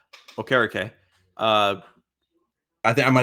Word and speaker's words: Okereke: I was shocked they didn't go with Okereke, who I just remembered that is how we pronounce his name, Okereke. Because I think I might have said Okereke earlier.